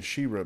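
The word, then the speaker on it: Sheerah: He-Man and Shira and there was no h at the end it's just the a at the end so that's what always mess me up with saying but actually just pronounced the same Shir like Okay so let's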